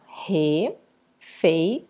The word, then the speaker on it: refeição: Refeição, eu separo refeição. Quando eu chamo refeição, temos aqui a última sílaba sendo a tônica, por isso ela é uma palavra oxítona.